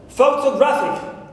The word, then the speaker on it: photographic: So pho takes secondary stress, as you see here with its mark. To is unstressed. Gra is the stressed syllable, primary stress. Clear? And fic is unstressed, suffix unstressed. Good.